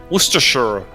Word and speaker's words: Worcestershire: american english pronunciation worcestershire it's not shy they don't say shire everyone's smiling no one